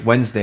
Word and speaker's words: Wednesday: Gods which is why in English Wednesday you don't pronounce the d but it's there The Secret Message is